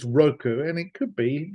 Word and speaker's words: Roku: Okay, so um I always pronounce it Roku and I've never heard anybody else say the word out loud. So I'm guessing they're not called Rockyu. Uh, I think it is Roku and it could be